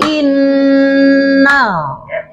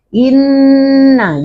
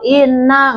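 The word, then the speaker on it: إنّ: Ini guna nun di tasdid. Ada huruf berapa kalau yang digunakan? Dua. Dua. Nun ditasjid atau mim mim di tasdid ya inna gitu Bu ya bacanya. Jadi enggak selewat inna enggak begitu tapi inna ada en ada gitunya innal in.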